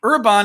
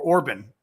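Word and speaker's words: Orbán: I mean, Orban is already pushing it, or Orban, or it's Orban. I pronounce it Orban.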